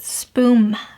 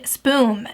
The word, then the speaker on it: spoon: to say SP oon I actually used to pronounce it spoon with an M instead of an N and I couldn't hear the difference and he'd be like you're saying spume and I'm like aha and he's like you